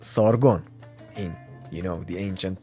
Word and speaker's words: Sargon: Actually, it's pronounced Sargon in, you know, the ancient Persian.